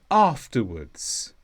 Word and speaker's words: afterwards: is an adverb and the stress is on off afterwards and this means something happens